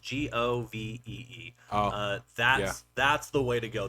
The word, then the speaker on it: Govee: But if you're going to get there's a brand out there, it's called, I think it's Govee is how it's pronounced, Govee.